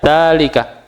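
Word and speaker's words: ذلك: harakatnya dalika panjang ya dalika Iya itu biasa salah di buku itu kan biasanya cetakan-cetakan kan biasa tetap enggak bisa mas ya bacanya dalika panjang Danya ya jadi bacanya panjang dalalika bukan dalalika ya Dan kita sering menemukan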